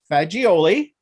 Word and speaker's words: Faggiole: I have Marie Faggiole.